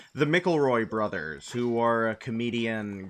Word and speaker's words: McElroy: Monster Factory is a YouTube series originally started on Polygon by I think their last name is pronounced McElroy, the McElroy brothers, who are a